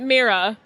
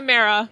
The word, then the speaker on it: Mara: Some people pronounce it Mira. Mira. How do you pronounce it? I say Mara.